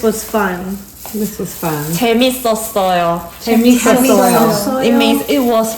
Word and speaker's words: 재밌었어요: 재밌었어요.